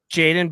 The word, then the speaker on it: Jaden: Jaden Bogdan. Jade rhymes with Wade.